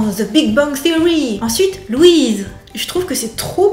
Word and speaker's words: Louise: Essayez de ne pas manger le i en une seule syllabe parce que en français Louis ça fait vraiment une syllabe. Louise mais là c'est vraiment Lou.